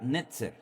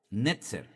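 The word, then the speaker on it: נצר: Ahora, analizando el texto en hebreo, la palabra vástago en hebreo es la palabra netzer. Netzer, N-E-T-Z-E-R, netzer.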